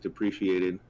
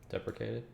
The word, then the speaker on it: deprecated: It's like depreciated. Deprecated? Deprecated. Is that how you say it?